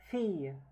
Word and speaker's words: fille: Fille. Fille. Yeah, the double L is usually pronounced as ye.